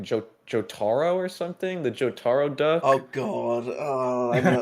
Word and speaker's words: Jotaro: People have been calling this guy, I think it's like Jotaro or something, the Jotaro duck.